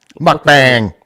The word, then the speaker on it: mukbang: Mukbang, mukbang.